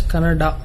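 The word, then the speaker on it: Kannada: where people were fighting whether it's caned or Canada people from North India should understand that it is pronounced as Canada but is it that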